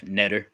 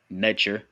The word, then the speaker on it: Neter: Then you have Netter or Netcher, more accurately pronounced, Neter.